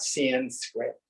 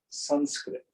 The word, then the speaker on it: Sanskrit: Now, what tends to get confusing for Westerners, the short A is pronounced like the U in but. So it's not Sanskrit, it's Sanskrit. It's not mantra, it's mantra. So as we go through